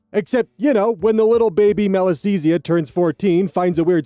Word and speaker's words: Malassezia: the middle of it, the first syllable being mal, literally meaning bad or evil.